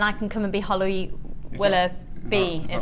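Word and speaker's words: Holly Willoughby: Can you send this morning and then I can come and be Holly Willa B is how you say her name.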